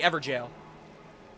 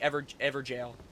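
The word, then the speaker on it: Evergaol: You're saying it's literally pronounced jail, like ever jail. But J A O L like ever ever jail.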